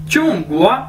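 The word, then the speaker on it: 中国: China ठीक है चूंग गुवा इसे कैसे बोलेंगे चुंगवा चुंगवा चुंगवा चुंगवा चुंगवा यानी चाइना चाइना को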